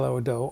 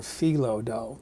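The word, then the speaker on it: phyllo: top crust I use five Pho dough or felo dough depending on how you pronounce it and between each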